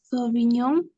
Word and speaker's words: Sauvignon: ¿Cómo suena la GN, Lucía López? Suena en ñ. Entonces, ¿cómo reemplazamos aquí? Sauvignon, Muy bien, seguí.